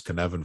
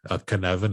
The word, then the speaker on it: Cynefin: If you want to study Cynefin, it's spelled with the C. It's a Welsh word.